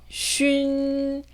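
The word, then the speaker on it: xun: 쉰, 쉰. 네, 이 발음을 만약에 soon이라고 읽는다면 틀린 발음이 됩니다. 다시 읽어볼게요. 준, 준, 춘, 춘, 쉰, 쉰.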